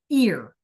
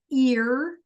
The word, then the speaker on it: ir: This thing here is the whole word ear. It's just spelled Iir and it's pronounced like, you know, the things we hear from, right? So, the verb is ear meaning to go.